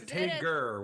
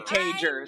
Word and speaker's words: Tager: to ask you is is it tager or tiger it is tiger with a I always say tager see I knew I was